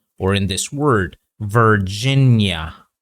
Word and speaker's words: Virginia: or in this word, Virginia. Okay, not Virginia. Okay, don't end it too much. Make the sound a little bit longer.